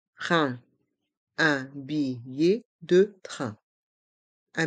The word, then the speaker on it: train: e B de train les lettres A i n font le son un train un billet de train